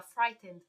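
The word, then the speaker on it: frightened: atenção na pronúncia gente não a gente pronuncia frighten frighten é como se não tivesse esse esse e aqui ó frighten frighten a gente pula direto do som do pro som do d frighten he was frighten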